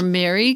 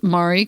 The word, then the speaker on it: Mari: Mari or Mary Copeny. Can you make sure that I pronounce her name right? Is it Mari or Mary? Mari, good.